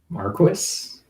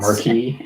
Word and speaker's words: marquis: word marquis but um marquis yeah not marquee yeah no it's it's marquis because it's a it's a french word um something to do